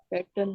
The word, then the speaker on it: pattern: अच्छा, PATTERN, इसको क्या प्रोनाउंस करेंगे? पैटर्न जी, पैटर्न पैटर्न, आर पैटर्न silent.